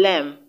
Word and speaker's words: lamb: And option D, lamb, ends in MB. So the B or the B letter is silent.